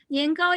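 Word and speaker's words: 年糕: Niangao is one of the two major like snacks, right? For Chinese New Year, niangao has the same pronunciation with niangao, which means every year you go up.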